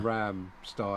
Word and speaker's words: Rammstein: Oh, sure, Dave, you say it wrong. Rammstein as in Stein, as in yeah. Rammstein.